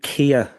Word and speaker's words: Keher: So, my name is Kia. It rhymes with beer. It's like the car as well, except it's spelled completely differently.